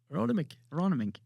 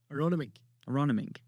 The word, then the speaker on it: Aronomink: Aronomink. You're putting an N. There's an N in it. Aron. You're doing NG. It's NK. Aronomink.